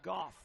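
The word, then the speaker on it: Gough: It's Hank Goff, G-O-U-G-H, pronounced Goff, to the plate.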